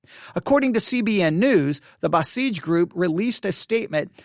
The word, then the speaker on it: Basij: The Basij group, all right, Basij, B-A-S-I-J, B-A-S-I-J. I believe it is correctly pronounced Basij. If I am mispronouncing that, I apologize, but I believe that is correct.